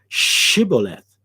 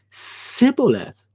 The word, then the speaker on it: Shibboleth: unto him, Say now Shibboleth. And he said, Sibboleth. For he could not frame it to pronounce it right. He couldn't frame the sh sound. So it came out as s.